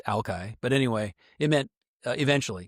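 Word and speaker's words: Alki: And some wise guy appended this Shinook jargon word, Ali, which is now pronounced Alkai.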